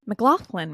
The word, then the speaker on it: McLoughlin: McLoughlin, right?